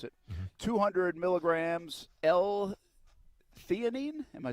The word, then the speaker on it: theanine: I couldn't even pronounce it. 200 milligrams L-theanine. Am I saying that right? Theanine, yep.